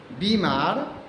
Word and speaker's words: बीमार: में भी फर्क है अक्सर लोग गलत उच्चारण कर दिया करते हैं हम बोल देते हैं गलती से बीमार जबकि बीमार नहीं बीमारी नहीं बीमार बीमारी ब में बड़ी ई की मात्रा होती है इसलिए बीमार बीमारी हमें बोलना चाहिए हमें